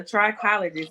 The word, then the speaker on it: trichologist: saw I saw that you're a cosmetologist, and I'm gonna try to pronounce this because I'm not a trichologist. Yes, a trichologist, and Okay, that is okay. that's exactly right.